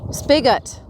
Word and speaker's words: spigot: Spigot. Spigot. Rhymes with bigot.